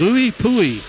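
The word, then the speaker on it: IUPUI: my brother told me the way to pronounce his college is going as Louie pooi Indiana university-purdue University Indianapolis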